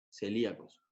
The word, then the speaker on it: celíacos: los colocamos por acá los celíacos con acento en la y celíacos hertz y esto vamos